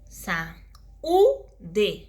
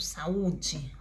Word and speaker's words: saúde: Então, aqui, sa-u-de. Então, é um hiato, saúde, sílaba forte.